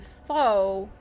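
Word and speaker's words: phở: do have a uh Alliance there that is f their their tag is fho f ho o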